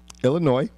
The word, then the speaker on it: Illinois: State conference Illinois conference don't pronounce the S Illinois and Wisconsin Conference and